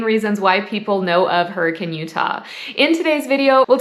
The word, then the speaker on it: Hurricane: might want to know about Hurricane Utah it is spelled hurricane but we actually say hurricane in Southern Utah so if you don't want